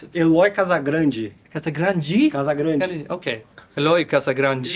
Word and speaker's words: Eloy Casagrande: I'm here with Eloy Casagrande. Casagrande is the name? Yes, Yeah. that's my name. And how do you pronounce it? Eloy Casagrande.